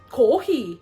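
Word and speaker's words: コーヒー: Kohi. Can I have a kohi? That's literally how you say coffee in Japanese, in modern day Japanese. You're not being racist. That's just how you say it.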